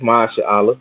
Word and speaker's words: Mashallah: Mashallah, did I say it right? Yeah, you got it good, brother. It's Masha Allah. It ain't that hard.